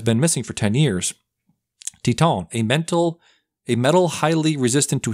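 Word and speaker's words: Titane: It's a French film, so I'm guessing it's pronounced Titan, like the French.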